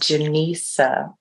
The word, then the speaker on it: Jenisa: and yeah definitely um my name is pronounced genisa and Lisa I'm sorry it's like Jen and Lisa don't decide yes thank you my dear um the the journey to this place I'm 54.